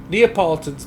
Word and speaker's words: Neapolitan: neapolitan all right so i have heard that that be pronounced several different ways neapolitan's the correct way that's what i've always